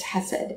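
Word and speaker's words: chesed: So the Hebrew word is hesed, which I'm probably not saying that right. It has this k sound at the beginning.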